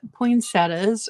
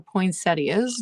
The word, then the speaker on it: poinsettias: pretty so hand painted poetas or poinsettias depending on how you say it it's this size just